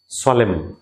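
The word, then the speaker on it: solemn: এরপর হচ্ছে সলেম, এনটা সাইলেন্ট।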